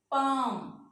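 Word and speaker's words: palm: बाद के और एम, अगर ये 3 लेटर्स आते हैं इनसे पहले एल आ जाता है तो क्या है, एल साइलेंट हो जाएगा। काफ, एल साइलेंट हो गया। Half, walk, Fock, talk, पाम, काम, बाम। अगेन देखें, जे जो है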